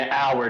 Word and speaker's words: hour: oh it took an hour to get there because we pronounced the word hour with a silent h yes correct yes the